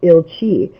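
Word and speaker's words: Ilcsi: more to hungarian as aunt ilchi which is spelled i l c s i and you'll find the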